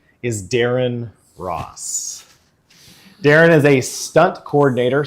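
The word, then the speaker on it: Ra's: original like there's a there's a whole thing about it was RA R when it became re okay re re Al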